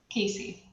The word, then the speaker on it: Casey: Is it pronounced Cassie or Casey? Casey. Casey, you want to talk a little bit about what you're going to be doing for us?